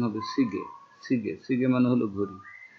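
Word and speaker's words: 시계: এরপর তো হচ্ছে সিগে, সি গিয়ে, এই গয়ের সাথে আছে ইয়ে, ইয়ে ইয়ে বর্ণটা কি হয়, ইয়ে স্বরবর্ণটা যদি শব্দের মাঝে বা শেষে বসে তাহলে এর মতন উচ্চারণ হয়। লেখা আছে সিগিয়ে, উচ্চারণ হবে সিগে, সিগে, সিগে মানে হলো ঘড়ি।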